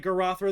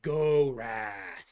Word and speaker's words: Gorath: pronounced like Garothra though. It's more like Gorath. Like it's like kind of like deep and No grumbly. giraffe. Not giraffe. Gorath. Oh, I thought you said giraffe. No, Gorath.